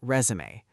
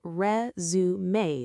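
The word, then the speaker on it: résumé: In America, they usually say resume, but in the UK and Australia, they often say CV, which stands for curriculum vitae.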